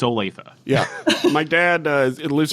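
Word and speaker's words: Olathe: l a t h e how would you pronounce that Olive I thought it was Olaf Olaf yeah but it was OA OA that was my eighth Guess yeah and I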